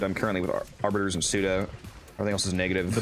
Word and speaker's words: Suda: It's Yeah, it's Arbiters, Yeah, Pseudo, no, it's- Steel Meridian, and then Loka, Veil, Perrin.